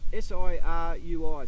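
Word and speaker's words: Sirui: this up it's actually a a seru don't pronounce that s i r UI so siru I don't ask do that again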